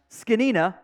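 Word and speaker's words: Zgonina: Run game coordinator Jeff it is pronounced skina by the way I don't know how that happens but that is the pronunciation I got it wrong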